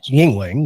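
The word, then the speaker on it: Yuengling: it's got a great name it does it's pronounced Yingling we figured that out tonight because we were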